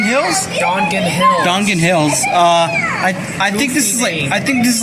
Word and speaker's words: Dongan: Duncan Hill.